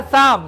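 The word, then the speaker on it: psalm: इसके बाद क्या है, शाम, शाम माने भजन, यहाँ पर पी साइलेंट है, यहाँ पर भैया देखिएगा पी साइलेंट है, इसमें भी साइलेंट है, शाम में भी पी साइलेंट है।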